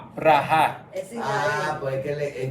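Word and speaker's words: ברכה: dice la gente dice la gente dice beraja beraja pero en hebreo es br br braha es Ah pues que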